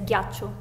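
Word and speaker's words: ghiaccio: we read it as gacho G uh G okay not too bad uh I think here the hardest part is pronouncing the two c so it's not gacho but it's gacho is like a deeper so so how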